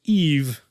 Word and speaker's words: AIV: And her name is AIV, which is pronounced Eve.